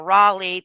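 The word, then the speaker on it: Raleigh: Rawleigh, I know how to say it now, Rawleigh, thank you for the person that told me, Rawleigh County deputies both make it clear that curious visitors are not welcome.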